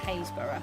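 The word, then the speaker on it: Happisburgh: s b u r g h but it's pronounced hazeur we have a lot of words like that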